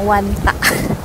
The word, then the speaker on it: Wanda: Nah guys, sebelum nanti kami bakalan tour Wanda Metropolitano, katanya bukan Wanda ya, dibacanya Wanta.